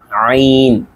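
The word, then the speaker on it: عين: এখানে কিন্তু বাংলায় লেখা দেখা যাচ্ছে আইন, কিন্তু আইন বললে হবে না, উচ্চারণটা হচ্ছে আইন।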